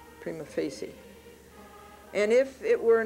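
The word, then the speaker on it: prima facie: the beginning now really the correct way to pronounce that in Latin is prima Fier and I don't know I think judges and lawyers say prima Facey and if it were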